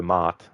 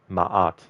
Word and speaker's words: Ma'at: if you go Mart, if you actually draw out the A, maybe you can pronounce it like that. But in Origins, they pronounce it Ma'at. So that's what I started to pronounce it like after Origins.